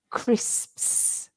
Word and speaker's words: crisps: so the crit at the beginning is like in Cricut but the end of it is SPS so you have to say crisps you might want to